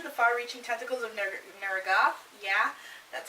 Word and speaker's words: Neragath: For that, I'm going with Rat Queens, Volume 2, The Far-Reaching Tentacles of Neragath. Yeah, that's how it's pronounced.